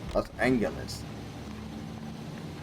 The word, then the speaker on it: Los Angeles: Los Angeles. Pronouncing it kind of in the Spanish way.